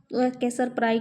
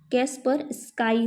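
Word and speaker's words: Kaspersky: पर काई होता है मैं गलत उच्चारण करी थी ना तो उसको आप कैसर कैसर पराई कैसर प्रई बोल रही थी वो याद कर लेना कैस पर स्काई होता है इस तरह से ठीक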